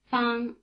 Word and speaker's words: Fang: Fang, fang, fang. Notice that the vowel sound ah is spelled with the letter A, as in Okinawa.